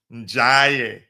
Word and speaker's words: Ndiaye: Ndiaye, that's how you pronounce his name.